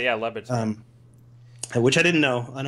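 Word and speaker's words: Le Batard: I want to say it's Labatard, but I don't know how to pronounce his name. That's right. Yeah, Labatard.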